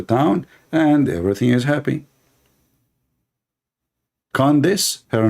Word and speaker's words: Candace: Condonos? I want to share my condolence with your mom about having a kid like you. Her name is Candace, Candace.